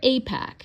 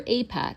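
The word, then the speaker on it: AIPAC: And that's where Apac, and that's spelled AI PAC.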